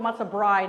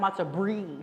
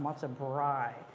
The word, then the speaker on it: Matzo Brei: And I want you to always remember, it's called Matzo Brei, not Matzo Brie. Sometimes people say it like it's a brie cheese. It's not. It's Matzo Brei.